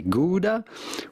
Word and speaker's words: Gouda: Everyone around the world is going to say Gouda, which would sound normal to anyone around the world. So that's kind of the normal standard way of saying it if you are not Dutch.